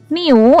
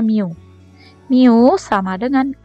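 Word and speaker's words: μ: Di rumus-rumus biasa nih Miu ini cara bacanya miu-miu = Q dikali Hai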